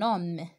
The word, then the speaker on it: homme: Toujours, je prononce pas la lettre H, d'accord?